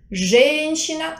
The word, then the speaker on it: женщина: L'accento è diverso. Mushina sulla i, женщина sulla ie. Женщина.